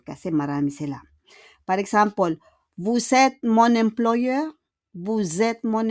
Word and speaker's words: Vous êtes: Le S will become a Z. Change it with Z, okay? Vous êtes. And we don't pronounce le S à la fin.